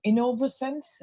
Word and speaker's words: Innovosens: It's Innovense. Is that how do you how do you say the name? It's Innovense. Innovative sensors.